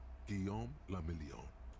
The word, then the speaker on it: Guillaume le Million: Guillaume le Million. If it doesn't Guillaume le rhyme, Million. you're not pronouncing it right.